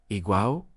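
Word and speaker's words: Eyam: Ham, como saben, se pronuncia Iguau, quien es una comunidad pacífica de unas 800 personas.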